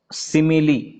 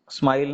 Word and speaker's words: simile: उच्चार लक्षात ठेवा, सिमिली, स्माइल नाही, ते वाटतं तसं परंतु स्पेलिंग वेगळं आहे.